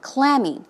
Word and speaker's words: clammy: basically is an adjective as you say this dress goes on the first syllable clammy it's cold and Dan